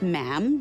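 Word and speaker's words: ma'am: after that is just mam rhymes with jam and it's always a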